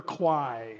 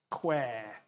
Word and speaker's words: Kwai: this is kwai but the word is queer and why didn't they spell it like that they're like k-w-a-e we would have said queer but no they spelt it kwai you know but a